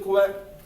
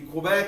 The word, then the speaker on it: Quebec: This is the capital city of Quebec, because it can be Quebec, it can be Quebec. It can be a few different things. Depends if you pronounce it more English or French.